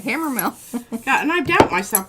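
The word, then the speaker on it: Hammermill: Mill right Hammer yeah you got it right Hammer Mill yeah and I doubt myself because I've said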